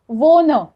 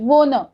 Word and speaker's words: wohne: और रहने की जगह बताने के लिए हम जो वर्ब यूज करने वाले हैं दैट इज वोन। WOHNE, वोन। यू कैन सी it's spelling on the screen.